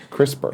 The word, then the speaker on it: CRISPR: CRISPR.